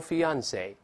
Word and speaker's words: fiance: 都可以读成 fiance，但这两个词儿又另